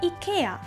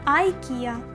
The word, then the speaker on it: IKEA: Так, ми вимовляємо як британці IKEA, а от за океаном кажуть по-своєму IKEA. IKEA, this is comfortable.